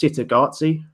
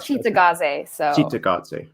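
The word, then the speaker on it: Cittàgazze: i believe it's pronounced sitagatsi i've heard cheetah gaze yeah because i've heard that that with the italian the the c is always a cha sound so but that that's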